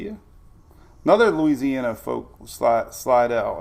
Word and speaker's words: Slidell: another louisiana folk slot slidell is how you say it slidell what's up marcia